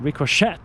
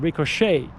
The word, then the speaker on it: ricochet: the S is silent, just like ricochet, not ricochet, but ricochet. It's French, and on and on and on and on.